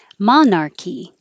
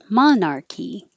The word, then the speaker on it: monarch: short form is legit monarchy monarchy the same monarch which you don't have to release the k monarch just monarch butterfly